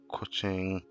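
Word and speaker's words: Keqing: Kuching, which is how you're supposed to pronounce it properly, which is very interesting. I never knew that that was how it was said.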